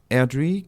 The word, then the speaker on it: Airdrie: Alors, Airdrie, Coatbridge et Greenock. C'est ça, je les prononce sans doute assez mal, mais je vais vous laisser le faire peut-être.